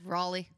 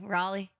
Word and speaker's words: Raleigh: Raleigh Ry Riley that's Raleigh Raley you got to like swallow it R there you go Raleigh I'm not gonna say